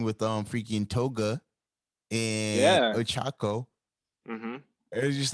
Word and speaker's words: Ochako: reasoning for attacking was questioning how do you pronounce it, Ochaka? Or, Yeah. yeah, Ochako.